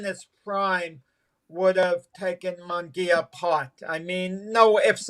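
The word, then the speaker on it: Munguía: Munguia, am I saying it right? Yeah, Jamie Munguia, right.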